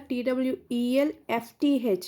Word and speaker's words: twelfth: Not TWELVE. Here TWELFTH. Here F is silent. 12th. We call it as 12th. TWELFTH, not VETH. Remember this one, 12th. Here F is silent letter.